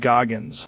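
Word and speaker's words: Goggins: David Gogggins.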